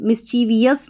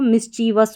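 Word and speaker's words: mischievous: मिसवस मिसवस मिसवियस नहीं पढ़ना है इसको मिसवस पढ़ना है।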